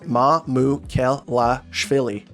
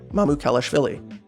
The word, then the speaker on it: Mamukelashvili: And I've had, some issues pronouncing people's last names, but with Mamu, his name is phonetic, like Sandro, and just read the letters. Mamukelashvili. Mamukelashvili.